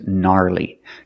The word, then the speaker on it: gnarly: right Nats are annoying and this word is gnarly gnarly is slaying in the United States it's